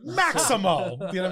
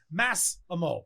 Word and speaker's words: Massimo: they away like Massimo or Maximo like it's not even that hard pronounced like Massimo people tell me like what's your name okay